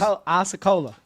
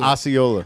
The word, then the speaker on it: Osceola: Oiakola. How you say it? Oyola. Oyola. Wow.